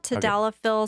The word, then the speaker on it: tadalafil: know there's uh sildenafil and tadallophils how you pronounce it yeah tadalaphyl sildenophil um viagra cialis for patients that you